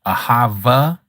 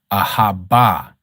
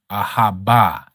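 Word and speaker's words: אהבה: Ahava is not the pronunciation. That is Yiddish. Ahaba. Ahaba is the true pronunciation.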